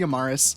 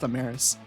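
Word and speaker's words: Amarys: I can also see Amaris. Actually, I think her name's pronounced Ammeris.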